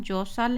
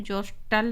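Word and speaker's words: jostle: धक्का मुक्की जो करते तो यहां पर य उच्चारण जसल है जोस्टल नहीं है एस के बाद जब भी टी आता है तो टी साइलेंट हो जाता है एस टी एल अगर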